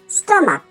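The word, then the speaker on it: stomach: মতো উচ্চারণ হয়, দেখো স্টমাক, এখানে সিএইচ এর উচ্চারণটা ক এর মতো, স্টমাক।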